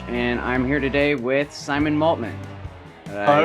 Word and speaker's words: Maltman: I am Mike DeFrench, and I'm here today with Simon Maltman. Did All I right, how's it going?